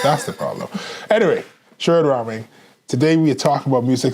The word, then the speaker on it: Rahming: it up yeah it's the H is silent it is okay that's that's the problem anyway sh raming today we talk about